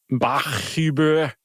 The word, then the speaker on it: Bachuber: Bachuber B A C H, which is fine. That's clearly Bach.